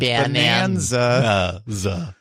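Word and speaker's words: Bananza: Remember, that's spelled like banana. Bonanza.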